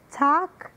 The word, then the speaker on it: talk: Oi pessoal, aqui é a professora Renata Valim e nesse vídeo eu vou explicar a pronúncia de talk, chalk, calm. Nessas três palavras nós não pronunciamos a letra L.